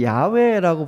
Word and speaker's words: 야훼: 이게 이제 히브리어로는 야훼라고 부르는 게 가장 정확한 발음인데요.